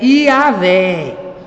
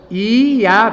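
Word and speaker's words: Javé: quatro letras yhwh a a pronúncia em português seria yaveh yaveh quatro letras Mas quem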